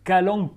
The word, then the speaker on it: Kalanchoe: l'appelle le calanque alors ça s'écrit calanque shower avec un ch mais on prononce calanques Cauet avec un K c'est une plante très